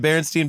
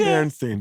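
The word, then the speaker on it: Berenstain: Baronstein. B E A R E N S T I N E I N or whatever. It's stain. It's s t a i n like stain barren bears.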